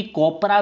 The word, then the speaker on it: COPRA: एक्ट, यानी कि COPRA, यानी कि कोपरा भी आप इसे प्रोनाउंस कर सकते हैं, या फिर इसे बोल सकते हैं कंज्यूमर ऑफ प्रोटेक्शन एक्ट, कब आया था, 1986।